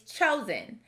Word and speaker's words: chosen: word the word is chosen notice that we don't pronounce the second syllable sin as we expect in a closed syllable this schwa makes the e sound more like an i so which column does